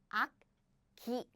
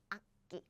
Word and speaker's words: 악기: What happens is this becomes 끼. So we don't pronounce it like 악기.